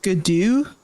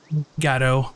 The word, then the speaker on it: Gatto: Is it Gadu? That's pronounced? Yeah, it's Gatto.